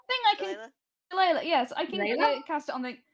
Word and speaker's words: shillelagh: Oh, I can't pronounce that. Shila? Is that how you pronounce it? Shilayla? Thing I can. Delilah? Shillelagh, yes, I can Shillelagh?